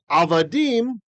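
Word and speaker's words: עֲבָדִים: it because there's asked so avadim the accent is on the end and whenever you have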